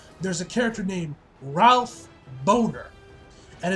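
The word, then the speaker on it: Bohner: last episode where there's a character named ralph boner and it's spelled b b-o-n-b-o-h-n-e-r ha-ha-ha-ha-ha you are not funny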